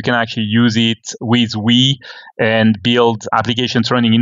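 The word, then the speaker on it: Ooui: I did look up the Wii web framework from Frank Krueger, and it is pronounced Wii.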